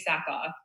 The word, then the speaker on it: Sackhoff: It's got, my name is spelled weird and I've got a silent H in it.